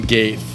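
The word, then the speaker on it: Gaethje: Usman versus Covington 2, and then you got Justin Gaeth. I think that's Gaeth. I think the J is silent there.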